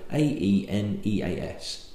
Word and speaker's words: Aeneas: it and Neves coffee it's like an Irish name so AE n EAS aeneas anus I would open up he